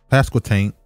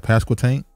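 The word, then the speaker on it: Pasquotank: fatally shot and passed pascal tank county sheriff that's how you say it right pascal tank yeah i don't think i should say it but i did that's how you said it pascal tank county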